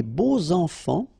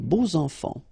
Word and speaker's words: beaux enfants: So you make the liaison between beau, so adjective, and enfant. And here it's quite interesting because even if you've got this X, well, phonetically it will be like Z, so like if it would be an S, okay?